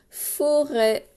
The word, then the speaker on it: forêt: La forêt, vous vous souvenez, on l'a fait cette semaine avec le son E qui s'écrit E, chapeau, et la lettre T qui est muette.